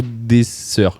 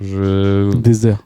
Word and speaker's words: Désert: C'est Désert ou Dessert? Désert. Désert.